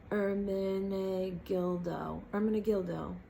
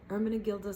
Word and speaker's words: Ermenegildo: Ermenegildo, and then Zegna, Ermenegildo Zegna. It's spelled E-R-M-E-N-E-G-I-L-D-O. Gildo, like dildo, but with a G at the end.